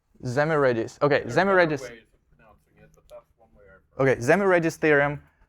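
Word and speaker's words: Szemerédi: I don't know how to pronounce this. Boris, do you know? Zmeridis. Zmeridis.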